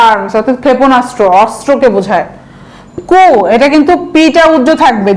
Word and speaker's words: coup: ওই একই, আর্ম দিয়ে মনে রাখবেন, আর্ম মানে কি ফায়ার আর্মস, অর্থাৎ ক্ষেপণাস্ত্র, অস্ত্রকে বোঝায়। কু, এটা কিন্তু পিটা উজ্জ্ব থাকবে জানেন তো, COUP,